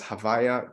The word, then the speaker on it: Havaya: and the relationship between what's pronounced as Havaya, to not say the word, or just Hashem, just literally the name, Right.